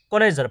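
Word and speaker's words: connoisseur: কনেজার। প্রথমেই আসছে কি, এটা মানে প্রোনাউন্সিয়েশন হচ্ছে কনেজার, যেটা মানে হচ্ছে কি রসপণ্ডিত বা শিল্প বিশারদ, শিল্পকলা বিশারদ বলতে পারি আমরা, রসপণ্ডিত বা শিল্পকলা বিশারদ।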